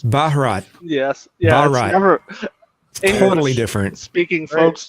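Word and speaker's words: Bharat: The background I was looking up how to pronounce India in Hindi and it's Baharat.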